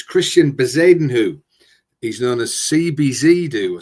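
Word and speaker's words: Christiaan Bezuidenhout: And the second one, I do go for the pronunciations. It's Christian Bezadenhu.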